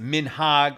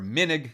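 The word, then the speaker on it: מנהג: So depending on how you pronounce it, minhag or minig, if you're saying it quickly.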